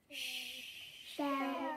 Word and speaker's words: shell: And shell, when we write the word shell, it looks like the sound at the beginning is a s, but a s and a together make the sh sound. So the sound at the beginning of the word shell is sh.